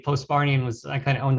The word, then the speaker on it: Postbarthian: And when you do Postbarthian, you can say it with the H if you want to, so you don't sound as stupid, you know, if you don't know the H is silent.